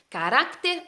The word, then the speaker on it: carácter: es la lusitana si carácter carácter rack es la sílaba tónica entonces termina con qué